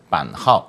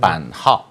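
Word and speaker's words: 版号: 그걸 이제 중국에서는 이제 판하오, 그러니까 우리말 판호 이렇게 얘기를 하는 거예요. 제가 판호 원어 발음을 한번 듣고 싶어가지고 여쭤본 건데요. 판하오.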